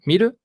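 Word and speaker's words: 見る: Que si tienen duda de cómo se conjuga, aquí aparece miru, 2, ver. Si tienen duda de cómo se conjuga un verbo, se meten aquí en la página. Bien. Miru, la sílaba alta es mi.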